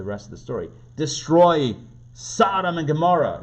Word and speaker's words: Sodom: I'm going to say it like the Hebrew, Sodom.